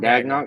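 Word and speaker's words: Daigneault: Which how you pronounce that? Mark Dagnall. Mark Dagnall.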